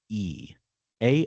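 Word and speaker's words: Aoife: Uh, a A O F E. A O I F E is how is how it's spelled.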